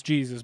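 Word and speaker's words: Jesús: It's Jesus, but I'm pretty sure it's pronounced Jesus.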